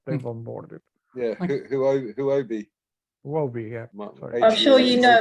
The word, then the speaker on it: Huobi: Might, I don't know, okay, but it is a big thing because Wabi is, I think, the third largest, still the third largest exchange out there, you know.